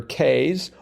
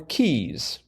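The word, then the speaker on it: cays: a Ys and for the record can be pronounced either K's or Keys oh really yes and um there's another word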